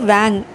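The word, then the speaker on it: vingt: நம்ம 20 சொல்லும்போது VING டீயை வந்து நம்ம சைலன்ஸை வச்சுருக்கோம், அப்போ வேங்.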